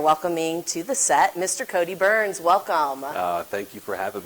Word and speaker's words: Byrns: Well, and then, of course, as you said, my name is Cody Byrns, and it's very interesting that my last name is pronounced Burns, because you're going to